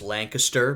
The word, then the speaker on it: Lancaster: yearbook from 1923 for a high school in Lancaster Pennsylvania it's pronounced Lancaster but I'll let it go just uh it